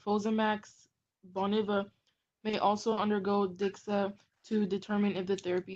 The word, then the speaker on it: DXA: DXA, pronounced DEXA, uses X-rays to determine the amount of bone in the human skeleton.